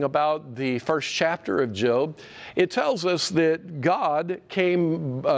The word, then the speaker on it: Job: or some people see JLB that's how you spell it it's look like the job you know the employment book the book of Job no it's pronounced by most people is job job and job is the dude man job